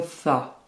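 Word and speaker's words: ث: Première difficulté, le tha. C'est un S très léger que vous prononcez en sortant légèrement la langue.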